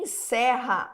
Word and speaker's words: encerra: Em encerra, as vogais E possuem a mesma pronúncia, evidenciando a mesma abertura vocálica? Não, né? Encerra. O primeiro E é fechado e o segundo E é aberto, tá?